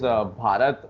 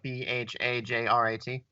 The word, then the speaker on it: Bharat: We use Bharat, and the other one name. I must be mispronouncing it. Is it like BHAJRAT? There's no J. It's BHARAT. It's been the name for India for like thousands of years.